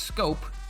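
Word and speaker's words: Schoop: Castro the DH Jonathan scope is pronounced scope is playing second base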